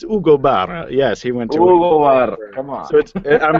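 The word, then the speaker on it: Hugo: or ug it's like come on but it's Ugo yes he went to I'm sure we're saying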